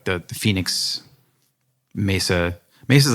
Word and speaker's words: Mesa: Is it pronounced correctly? Mesa. Mesa.